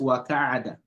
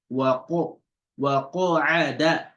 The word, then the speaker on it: وَقَعَدَ: Wa khasafa, or not wa ka'ada. Wa qa'ada. Wa qa'ada. You see that the qaf, it's only one that's having that heaviness when you pronounce it. And so that is tafkhim.